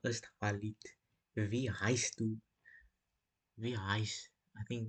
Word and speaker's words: heißt: That letter there. Heißt that looks like a B, capital B, but I think it's like a S if I remember.